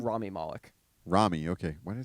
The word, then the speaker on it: Rami Malek: Rami Malek. Rami. Okay, why did I say Remy?